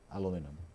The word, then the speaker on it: aluminum: So how do you say in India, aluminium or aluminum? Aluminium. Yeah. So it's only Americans who say aluminum.